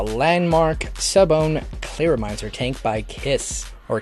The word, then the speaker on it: Kaees: In this video we're going to be talking about the Landmark Sub-Ohm Clearomizer Tank by Kaees, or Kaees. They said to pronounce it like Kiss.